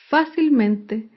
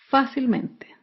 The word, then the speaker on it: fácilmente: es la palabra fácilmente fácilmente se acentúa en la sílaba anterior a la antepenúltima sílaba fácilmente por último un ejemplo